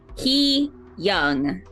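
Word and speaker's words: hyung: search the computer store he young he like h e e and then Young y o u n g y okay y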